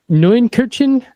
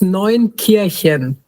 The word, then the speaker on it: Neunkirchen: Neunkirchen? So close. Close, So yes. It's Neunkirchen. Kirchen.